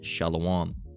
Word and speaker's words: Shalom: All right, it's properly pronounced as Shalom.